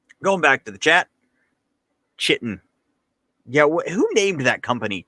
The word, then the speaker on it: chitin: Oh, it's called chitin. That's dumb. That's not how it's spelled.